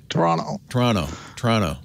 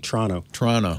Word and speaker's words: Toronto: Like Toronto. Or the T, sorry, the T is silent. Yeah, the T is silent. Toronto.